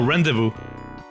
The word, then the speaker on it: rendezvous: Oh, rendezvous. Oh, okay, that's how you pronounce it.